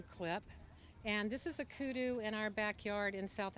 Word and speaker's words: kudu: backyard in South Africa kudu is a African antelope with the beautiful headpiece and we named this piece after him and it also rhymes with hairdo and updo and it's a nice